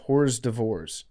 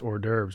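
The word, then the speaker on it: hors d'oeuvres: French thing to mispronounce mine is mine is hores divor hores divor I can't really pronounce any French words right I mean I can pronounce or derves but I used to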